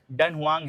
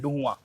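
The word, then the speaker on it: Dunhuang: भी बोल सकते हो क्योंकि हमारी प्रोनाउंसिएशन के हिसाब से ये डन हुवांग है बट यहां पर लोग इसको डुआ बोलते हैं डहुआ।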